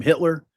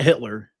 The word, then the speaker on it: Hitter: They mentioned Savion however you say his name, Hitter, not Hitler.